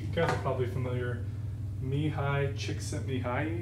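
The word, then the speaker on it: Csikszentmihalyi: are probably familiar mihai chick sent me high is how I was taught to say his name he has that great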